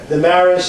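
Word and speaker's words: Demarais: great and a gent spell that last name the Maris is uh as a spelled there it's the e m a r r a i s the Maris he's a great guy he did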